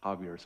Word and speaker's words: Xavier: Xavier University in Cincinnati I mean the Americans don't know how to pronounce Javier so Xavier University in uh Cincinnati and uh uh